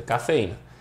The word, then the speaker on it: cafeína: ca fe na beleza cafeína cafeína sílaba tônica é esse I aqui galera então cafeína sílaba